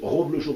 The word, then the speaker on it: Roblochon: Alors attention, il faut bien dire Roblochon, parce que le fromage, ça s'écrit le Reblochon avec un. Mais alors c'est Roblochon R-O.